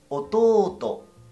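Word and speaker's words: おとうと: Hermano menor sería ototo. Ototo. Y hermana menor sería imoto, no imoto. Imoto. Ototo. Siempre recuerdas esas estiraciones de sílaba.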